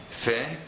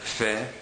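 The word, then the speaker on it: פ: language such as pepper Fe is similar to the English F like in the word forever the technical pronunciation of the letter Fe is is a little bit different than the letter F in English Fe is supposed to be made by using only your two lips in contrast to the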